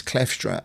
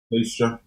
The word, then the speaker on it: Kleefstra: Because Gary pronounced it as Kleefstra, and I said Kleefstra. Is it double E or one E? Kleefstra.